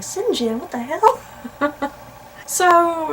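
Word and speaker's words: St. John: I'm still to this day surprised that's how sinjin's name is pronounced I when I was reading the book for the first time I called him Saint John and then to my shock when my professor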